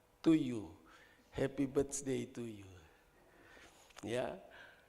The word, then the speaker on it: Tuju: Karena itu ejaan lama, tapi kalau baca setiap detik saudara baca to you.